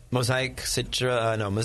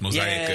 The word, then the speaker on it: Mosaic: He's like pronouncing it Japanese. Mosaic. It's mosaic, dude.